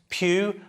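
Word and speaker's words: Pugh: know the actress Florence Pew her name rhymes with poo but uh what's our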